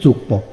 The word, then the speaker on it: যুগ্ম: উচ্চারিত মফলা যদি শব্দের মধ্যে যে বর্ণ অর্থাৎ গ, মূর্ধন্য ন, দন্তান্ন, ম, লয় ম এর সঙ্গে মফলা যুক্ত হলে ম এর উচ্চারণ বজায় থাকে।